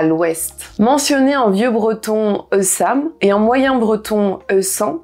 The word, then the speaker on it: Ouessant: L'île d'Ouessant, que l'on prononcera Eussa, est l'île du bout du monde.